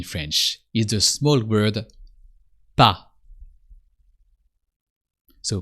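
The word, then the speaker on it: pas: is the small word PA so p a s but the S is silent because it's the last consonant of the word so just PA and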